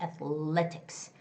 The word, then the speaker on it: athletics: So, athletics, athletics has the second syllable stress.